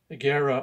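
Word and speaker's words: Augeri: This is with Steve Aguera on it. That's the way you really pronounce his name.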